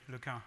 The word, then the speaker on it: LeCun: pronounce my name correctly look out this is the French pronunciation on this side of